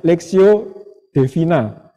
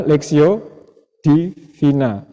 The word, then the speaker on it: Lectio Divina: kegiatan kita akan disebutnya leksio Devina sekolah seperti itu berarti bacanya Devina yang benar itu adalah leksio Divina yang artinya bacaan rohani